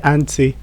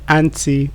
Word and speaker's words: anti: you're a fan of the British English, you say anti. As an American person or if you're a fan of the American English, you say anti or anti.